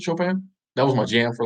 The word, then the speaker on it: Chopin: was somebody it was it was chopin is how you say it chopin that was my jam